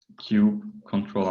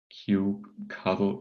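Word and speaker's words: kubectl: this file that's configured i use cube control apply for the deployment and oops and let's see the outcome with q cuddle get parts and i hope i have now covered all possible pronunciations of cube ctl to please the audience uh we see it's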